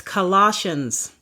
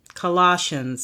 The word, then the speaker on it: Colossians: this book the next book of the Bible mispronounced it's Colossians Colossians c o l o SS I a NS